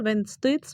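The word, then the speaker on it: Wednesday: अगर लिखा रहता तो हम पढ़ते हैं और व्हेन स्टेटस व्हेन स्टे तो यह इसका हम मैंने बस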